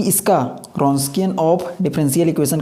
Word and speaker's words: Wronskian: है रस्किन होता है देन रस्किन डबल यहां पर साइलेंट होता है ठीक है ऑफ वाव